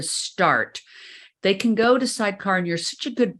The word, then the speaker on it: Sydecar: I I read about what you guys do sidecar and let's spell that for everybody because some people aren't watching